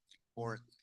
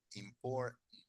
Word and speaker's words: important: Me gusta que entiendan perfectamente important, important, important. Si lo pueden decir, mejor. Important, important. Porque no pronunciamos esa T, llegamos a la R, import, y después el sonido de la N, el sonido.